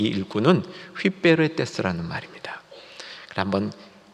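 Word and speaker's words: ὑπηρέτης: 근데 오늘 말씀의 일꾼 했을 때 이 일꾼은 휘베레테스라는 말입니다. 한번 발음을 같이 해보시고 나면 조금 더 기억에 도움이 되겠죠? 한번 따라해 주세요. 휘베레테스, 휘베레테스. 휘파람 불듯이 하면 됩니다.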